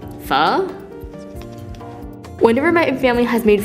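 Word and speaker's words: phở: Vietnamese it's spelled pho with a kind of like question mark accent on the O so when you pronounce it you kind of sound as if you're asking a question like fuh whenever my family has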